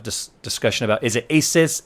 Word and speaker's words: ASUS: a lot of dis discussion about is it ASUS ASUS guys Asus pronounces it Asus so that's the why I'm